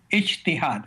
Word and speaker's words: ijtihad: critical thinking in Islam, and I believe it's pronounced ijtihad. Is that correct? Ijtihad.